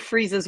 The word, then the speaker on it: Fries: Freeze. Yeah. Nora Freeze. Nora That's- Freeze, Fries. yeah. It looks like fries, but it's Freeze. It's spelled Fries.